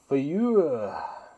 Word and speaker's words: FAEUYH: Fayuh. It's the sound that us old guys make when we're getting up off the couch. That's how it's pronounced and that's how it's spelled.